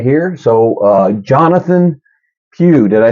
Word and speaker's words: Jonathan Pugh: ahead and jump in right here so uh Jonathan Pew did I say it right I did it